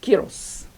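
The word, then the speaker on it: ⲕⲁⲓⲣⲟⲥ: Alpha and iota together make an E sound because this is Greek noun. Rho makes an R, omicron makes an O, Sima makes an S. Kyros.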